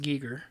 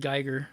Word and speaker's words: Giger: it says well yeah it said that it's pronounced Gieger okay I always said Geiger entire wrong until I learned wrong okay well